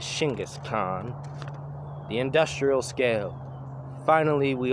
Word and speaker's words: Genghis Khan: Rank number one, Genghis Khan. Here in America we say Genghis Khan, but in Mongolia it's actually pronounced and said Shingis Khan.